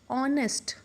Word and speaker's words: honest: Okay, honest, honest. We don't pronounce it as honest. H is silent over here.